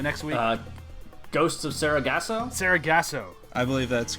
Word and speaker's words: Sargasso: How do you pronounce the name of the episode? The next week? Ghosts of Sargasso? Sargasso.